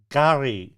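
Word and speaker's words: K'gari: question 34 Fraser Island is also known as gar which is spelled k apost rophe g a r i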